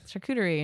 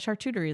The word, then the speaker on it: charcuterie: like i don't like charcuterie and she's like yeah that that chartery like she she like tries to sound it out the way it's spelled and you know you